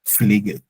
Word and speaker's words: Pfleger: Also like the P is not all that silent, but almost silent, but you hear the F more, like Pfleger.